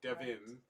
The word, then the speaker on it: Devin: name with an i it's like Kevin but with a d that's right I spell